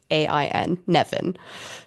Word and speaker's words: Nemain: charge into battle, and that's spelled Nemain, Nevin. Right. So the M becomes a V, Yeah, that makes no sense, but and fine.